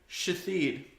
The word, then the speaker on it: Shithead: Said pronounced Ashole, but that's how it's spelled. There's another one That ain't named right. Shathid.